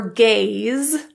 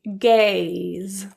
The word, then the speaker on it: gaze: For gaze, the E is not pronounced. It's giving its power to the A, which will sound like an A. It's an A. A, gaze. Sail, the E is not pronounced.